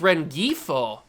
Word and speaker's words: Rengifo: I yeah I understand oh it's red gifo is how you pronounce it that was a